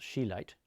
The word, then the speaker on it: chelate: that sulfur but um the keate form of pronounced chilate the keate form of